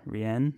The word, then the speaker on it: Rhianne: her name chet's oh rhian chet's daughter rhianne that's how you pronounce it halrion allerian yes